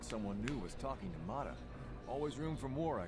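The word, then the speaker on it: Motta: just want to race but the deal with motto is pretty bad he'll get most of what i win mata i've been saying it wrong the whole time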